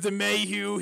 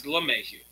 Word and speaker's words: LeMahieu: Oh, there goes DeMayu. He's out for the beginning of the season. Oh, I love DeMayu. DeMayu is amazing, but It's LeMahieu. yeah, I know. I always say it wrong too.